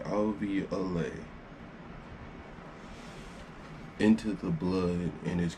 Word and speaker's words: alveoli: LV Olay into the that's how you pronounce it I'll be away into the blood and